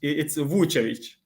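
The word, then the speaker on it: Vučević: Like it's Vucevic, but I know it's difficult for you. It's It's Nikola. Vucevic, so you Yeah, pronounce the Vucevic.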